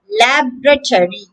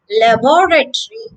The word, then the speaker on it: laboratory: have a scientific laboratory laboratory that's the american pronunciation lab retiree with the stress on the first syllable lab laboratory the british version sounds quite different laboratory laboratory here the second syllable is stressed so the word begins